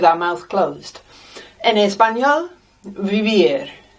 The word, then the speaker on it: vivir: We also have vivir. Vivir means to live. And the Spanish V there is almost a B, between a V and a B.